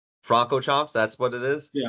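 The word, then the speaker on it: Francorchamps: I've actually never heard it fully pronounced. Fronco Chomp. Franco Chomps.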